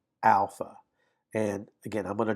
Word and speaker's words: alpha: The first letter is alpha, alpha. And again, I'm going to draw these, but first letter is alpha. You would pronounce that like the ah in father.